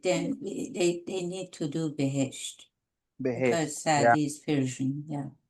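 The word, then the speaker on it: بهشت: And what is the base or what is the correct pronunciation for paradise? Behesht. Behesht. Just the way it is actually spelled.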